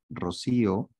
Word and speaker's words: Rocío: No lleva tilde en la O, lleva tilde en la I. No es rocío. Rocío es cuando agarras tu manguera y rocías las flores de tu jardín, ahí dice rocío. Pero acá dice rocío.